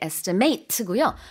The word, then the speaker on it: estimate: 동사일 때는 발음이 이렇게 estimate고요. 명사일 때는 estimate. 그래서 조금 다르죠.